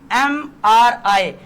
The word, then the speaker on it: MRI: का आ गया ना MRI, तो यहाँ पे MRI का क्या आएगा, आपका एन आएगा, क्योंकि इसका एम जो आ रहा है ए की आवाज आ रहा है, ए की जो